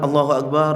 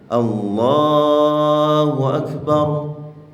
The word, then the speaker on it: Allahu Akbar: Pengucapan Allahu Akbar, Allah itu salah. Yang benar Allahu Akbar. Enggak panjang barnya itu, bar itu.